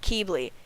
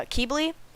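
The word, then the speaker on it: Qibli: differently depending on where you live but Tui pronounces it Keeble in America in well basically United States and Canada they pronounce it uh keybli but it can be pronounced kibli in English accents so depending on where you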